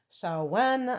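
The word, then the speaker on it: Samhain: pagan holiday on Halloween called salwan I don't I think that's how you pronounce it s-a-m-h-a-i-n and um so anyway you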